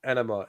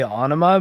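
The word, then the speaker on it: Ænima: the way he is selling it, it is pronounced enema, as in flush this thing the fuck down. Yeah, and well, I mean, I was going to bring that up because I tend to say anima because it's spelt with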